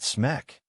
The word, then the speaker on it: SMC: SMC, Hansen said, pronouncing it smeck.